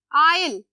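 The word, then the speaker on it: aisle: ठीक है, आइल, again S क्या है, साइलेंट, आइल।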